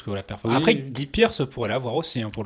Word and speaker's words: Guy Pearce: dit quoi C'est Guy Pearce. C'est Guy en anglais. Oui, moi je la prononce à la française.